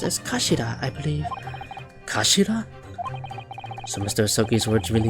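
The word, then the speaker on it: 頭: It's written as head in Japanese, but it's pronounced as Kashida, I believe. Kashira.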